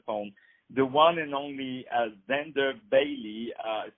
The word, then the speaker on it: Xander: by his first class performances so my dear Zender the last question because I know you have